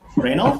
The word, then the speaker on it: Reynolds: i say your name is it rain out or reynold reynolds okay reynolds nice i really like